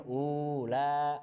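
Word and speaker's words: أولئك: Kemudian ulaika pasti bacanya ula, padahal ada wawunya, ya kan? Nah, tapi bacanya memang pendek gitu, seperti itu.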